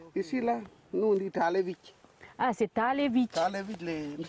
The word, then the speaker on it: Talevich: Du coup, si tu le prononces, ça te fait Talevis. Alors que papa il vient de dire que c'est Talevich.